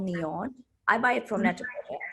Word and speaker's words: NIOD: I love this brand called Neon. I buy it from Net-a-Porter actually. It's spelled as NIOD, and they have very happy.